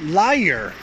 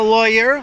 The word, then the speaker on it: lawyer: For some reason, it comes out as liar when Poles say it, my students at least. But not a lawyer, lawyer, some strange odd sound like that, but just lawyer, lawyer.